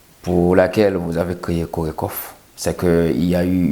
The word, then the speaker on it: CORECOHF: communauté haïtienne de france nous parlons de corée kof c'est comme ça se prononce coiffe mais c'est quoi exactement